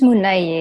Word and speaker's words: Muné: So tell me, okay, so Muné, right? Firstly, okay. Yes. The artist name is it Muné? The artist name is Muné, yes.